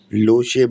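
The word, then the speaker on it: Lhotse: लोशे, लोशे mountain peak. तो भैया लोशे, जो यहाँ पे इसकी स्पेलिंग तो LHOT ऐसी होती है, पर टी साइलेंट होता है।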